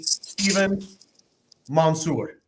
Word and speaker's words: Stephen Mansour: of our favorite agent Partners out in Tennessee stepen Monsour did I pronounce that correct you got it that's perfect